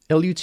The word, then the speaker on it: LUT: LUT is short for lookup table, and it's just pronounced LUT.